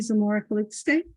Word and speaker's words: Zamora-Calixte: Tonight, we have one candidate, Sandy Zamora-Calixte. Did I pronounce that correct? Yes, you did.